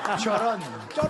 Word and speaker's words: Choron: Mais c'est pas que je suis la fille du professeur Coron, non. Choron. C'est Choron.